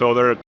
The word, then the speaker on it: other: to interact with other the word other can be tricky to pronounce for a lot of English as a second language speakers so it's ether short e ether even though it's spelled with an O It's Not O or all it's e I'm going to play